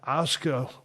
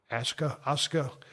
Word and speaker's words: Asuka: And finally, you know, when it was all said and done, Asuka, well, I always pronounce her name wrong, Asuka.